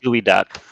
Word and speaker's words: geoduck: there is this friend who has confirmed it's definitely pronounced gooey duck i had no clue